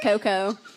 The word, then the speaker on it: Cocoh: How do we pronounce it? Because you was like, Cocoh or something. Yeah, it's just Cocoh. But it's always a conversation starter because people are not sure how to say it.